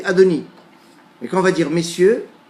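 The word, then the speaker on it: אדני: un peu moins hermétique il est écrit comme le verbe être au futur la troisième personne du futur à peu près et on le prononce comme le maître du monde à donne l'air quand on dit mon sueur ont dit à doni et qu'on va dire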